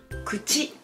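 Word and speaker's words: くち: Kuchi, kuchi. 2 syllabes.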